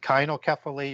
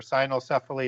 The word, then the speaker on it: cynocephaly: I've heard it pronounced both ways, so it could be called kynocephaly or cynocephaly or cynocephaly.